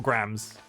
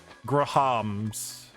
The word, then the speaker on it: Graham: were a thing, or Grams. I've said it so many Grams. times now, it's lost all meaning. Grahams. Yeah, so it's clearly 2 syllables.